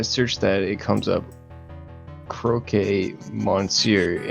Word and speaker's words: Croque: I think his name's pronounced Croque. Croque. Could be croquet. Is that croquet? That's what I thought, maybe. Croquet? Oh, it's definitely croquet.